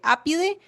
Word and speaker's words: Apidae: Se escribe apidae, pero como es latín se lee apide.